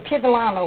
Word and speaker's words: Piedolana: He came from Piedolama, which is Piedolama. Piedolama. Ascoli-Piceno, Italy. And how do you spell that?